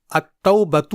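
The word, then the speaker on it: التوبة: بار پڑھا جائے گا، جیسے التوبۃ میں ال کے بعد تا حرف شمسی ہے، اسی لیے یہاں ال کے لام کو نہیں پڑھا جائے گا بلکہ اس کے بدلے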